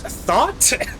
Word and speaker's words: Thoth: Um, Thoth is apparently pronounced thought.